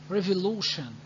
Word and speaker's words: revolution: draw your attention to what revolution here look t i o n is pronounced like shin revolution revolution agreed okay don't